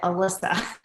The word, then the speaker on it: Alissa: Like my hairdresser spells her name Alissa, but she pronounces it Alyssa.